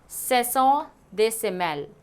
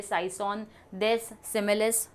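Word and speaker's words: Saison des semailles: अगर आप पढ़ोगे तो आप शायद इसको इंग्लिश में ऐसे पढ़ोगे, साइसोन देस सिमिलिस, नहीं, इसका जो प्रोनाउंसिएशन है वो होगा सेसों दे सिमेल और फिर ल सोवर।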